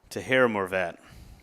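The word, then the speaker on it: Taherimorovat: the pronunciation of it it is t a h e r i m o r o v a t to heram morette so very unique last name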